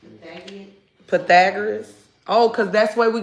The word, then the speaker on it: Pythagoras: P Y T H A O R A S I cannot pronounce his name. Correct. Correct. Correct. Pagan. Pythagoras.